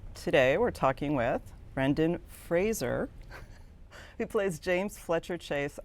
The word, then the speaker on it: Fraser: four years so it's it's Fraser like the thing you stand close to to get a close shave okay we had to